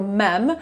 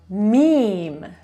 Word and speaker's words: meme: Przyznaję, że sama źle wymawiałam to słowo. Spolszczyłam je sobie jako mem, ale mówimy mem.